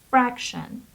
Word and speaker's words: fraction: Fraction. Look at the pronunciation here. The stress is on the first syllable, so it is fraction.